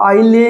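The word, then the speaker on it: isle: ये आई एस एल इ है। तो इसको आई ले या इसलिए नहीं बोलेंगे। हम क्या बोलेंगे? आईल। आईल का मतलब भी क्या होता है?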